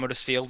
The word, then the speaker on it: Huddersfield: Oh wait, who else came back here after Graham Norton pointed out Okay, Huddersfield?